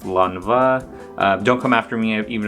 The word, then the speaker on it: Lanvin: So I know some people pronounce it Lanvin, but when I looked up YouTube videos and how to pronounce it, it's pronounced Lanvin.